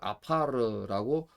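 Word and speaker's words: עָפָר: 요게 다 이렇게 두 개 다 아 사운드가 납니다. 두 개가 아 사운드가 나서 이걸 아파르라고 읽게 됩니다.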